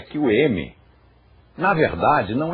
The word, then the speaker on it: Om: pronunciar o sânscrito corretamente aqui há uma fusão não se pronunciam estas letras separadamente pronuncia-se om e a questão do M que é uma questão curiosa também e interessante é que o m na verdade não é